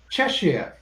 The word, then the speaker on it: Cheshire: county's names correctly british it is not the word you said it is cheshire i'm going by her